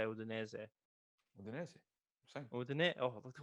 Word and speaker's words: Udinese: last, How do you pronounce Udinese? Like as an Italian, how do you say Udinese? Udinese.